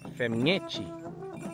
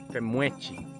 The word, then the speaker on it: femñechi: También vamos a aprender la palabra femñechi. Femñechi. Que también en algunos lados se pronuncia, se dice femuechi.